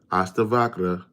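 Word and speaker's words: Ashtavakra: That's how you pronounce it. Aasta Vakra.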